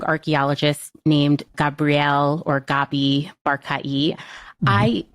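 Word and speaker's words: Barkay: I've heard it mostly pronounced as Barkai, but Dr. John Monson, who claims in the lecture that I listened to have an avuncular relationship. He said that Bar-Kai was like an uncle to him. He pronounced it Bar-Kai, and since he's an expert.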